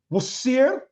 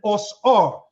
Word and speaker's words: Osiris: say that I'm wrong two ways to pronounce Osiris's name was ear and osr that ear or R